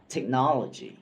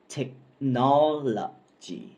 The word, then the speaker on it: technology: ผิด อยู่ นะ ครับ คำ นี้ เป็น คำ 4 พยางค์ แล้ว เน้น เสียง พยางค์ ที่ 2 ครับ ออก เสียง เป็น